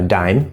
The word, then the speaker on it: dime: Now dime, so we have D plus the diphthong I plus no E, the E is silent, so D-I-M, dime, dime.